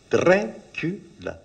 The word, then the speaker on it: Dracula: 3 syllables. Dracula.